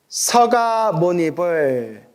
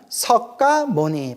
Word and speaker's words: 석가모니: 석가모니도 서가모니라고 해요.